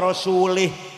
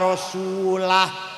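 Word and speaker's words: وَرَسُولُهُ: Wa annallaha bari'um minal musyrikin wa rasulih. Allah tidak melindungi orang musyrik dan tidak melindungi Rasulullah. Salah bacanya itu. Yang benar wa annallaha bari'um minal musyrikin wa rasulah.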